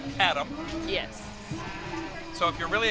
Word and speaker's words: ADAM: Which they pronounce as Adam.